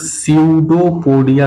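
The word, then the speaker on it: pseudopodia: इनको हम लोग सडोपोडिया कहते हैं। पी यहां पे साइलेंट है।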